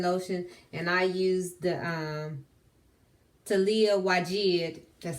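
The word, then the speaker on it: Taliah Waajid: And I used the Talia Wajid.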